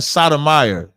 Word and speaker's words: Sotomayor: And I'm saying Sotomayor. It's S-O-T. The T is being pronounced. You're just saying it fast.